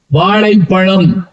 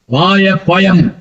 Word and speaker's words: வாழைப்பழம்: வரும் வேற எதுவுமே வராது உதாரணமா வாழை பழம் அப்படி சொல்லணும் சில பேர் சொல்லும் கேட்டா தெரியும் எப்படி உச்சரிக்கணும் அப்ப அப்ப ஒரு வாத்தியார் சொல்லிட்டாரு டேய் சொல்றா வாழைப்பழம் அவன் வாய பழயம் அப்படின்னு இருக்கான் வாழைப்பழம் வாய பயம் உங்க அப்பா கூப்பிட்டு வா